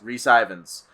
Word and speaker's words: Rhys Ifans: The villain is, you're going to have to remind me how to pronounce his name. Rhys right? Ifans. Rhys Ifans.